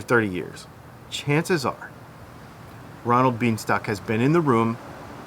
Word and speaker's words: Bienstock: His name is Ronald Bienstock. That is how you say his name.